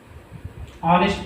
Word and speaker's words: honest: Our, honest person, honorable prime minister. So here we will put an there because though this is a H consonant, our pronunciation starts with O.